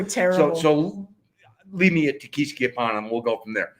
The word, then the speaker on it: Tequisquiapan: This city is probably, Ajijic is probably similar in size to Tequisquiapan. We're not saying it right. Whatever. We just learned that it's Tequisquiapan.